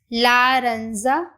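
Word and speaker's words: laranja: लारंजा, लारंजा, लारंजा means orange. माहोम, माहोम means brown. सिंजा, सिंजा, सिंजा means grey. मैं फिर से रिपीट कर रही हूं, आजू, वेरजी, हौजा, लारंजा, माहोम एंड सिंजा, ठीक है।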